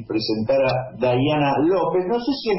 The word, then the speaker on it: Dayana: Depende de cómo pronuncien ustedes la Y. Nosotros pronunciamos Ye, Dayana.